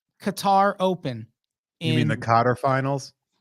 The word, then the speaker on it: Qatar: You mean the Qatar finals? Qatar. I prefer Qatar, but people get so in their feelings when you pronounce it that way.